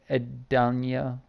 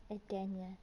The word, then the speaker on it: Edenia: No, I'm not too scared of you, Empress of Edania. How do you say that, babe? Edenia. Edania, I'm sorry.